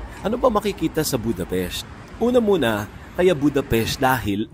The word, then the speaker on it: Budapest: Is it Budapest? No. Or what is the correct one? Budapest. See? It's Budapest. Yeah, because the S is a different letter.